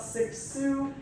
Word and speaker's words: Cixous: So anyway, today we are talking about Cixous. Yes, that is how you pronounce it, Helene Cixous.